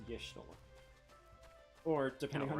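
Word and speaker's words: Y'shtola: What about Ishtora? East Shroud. Close enough. Besides, it's Yishtola. Or, depending on how you think I've the been doing first it letter wrong. of Makote name should be pronounced, Waishitola.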